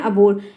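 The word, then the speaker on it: abhor: पे लिखा है अबो लोग इसको अबो पढ़ते हैं ठीक है एच साइलेंट हो जाता है अबो क्या पढ़ते हैं अबर इंग्लिश मीनिंग होती है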